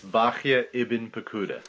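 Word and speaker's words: Bahya ibn Paquda: was very tamic and Rabbi bah pada that's Bak iben pakuda wrote duties of the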